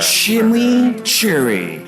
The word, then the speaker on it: chimichurri: above introducing Wendy's news chimichurri cheeseburger chili Cherry that's how you pronounce it let it roll off